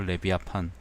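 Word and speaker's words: Левиафан: 레비아판. 레비아판이라는 게 그 리바이어던이 이제 러시아어 발음이거든요. 리바이어던이 이제 영어 발음이죠.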